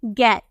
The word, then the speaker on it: get: नजर आ रहा है, लेकिन फिर भी हम इसे क्या प्रोनाउंस करते हैं, गेट हम प्रोनाउंस करते हैं।